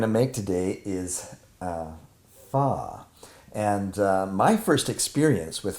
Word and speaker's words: Phở: it looks the way it's spelled it everybody pronounces it foe right and so but that's what we're going to make today is uh faw and my first experience with faw was when